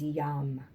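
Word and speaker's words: yam: on an energetic frequency is yum the letters y a m and of course it sounds like young because love is yummy um i invite you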